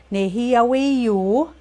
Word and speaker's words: nêhiyâweyu: Nêhiyâweyu, you'll hear too, or nêhiyâwewin. So it depends on region, on how they pronounce it when they're referring to the fourth person.